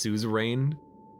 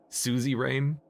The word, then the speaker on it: Suzerain: It's pronounced Suzerain. Yeah, Suzerain. I know I'm pronouncing it wrong, but Suzy Rain?